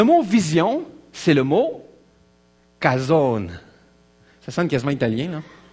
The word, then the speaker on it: Chazown: Cason en fait je on le prononce avec le C qui est là mais en français il n'y a pas d'équivalent dans la langue française pour cette lettre là c'est un mélange de C et de r ok parce que la